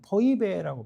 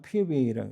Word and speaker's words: Phoebe: 이 베베의 원래 정확한 이 그리스의 발음은 포이베라고 발음해요. 포이베. 영어로는 피베이라고 해요.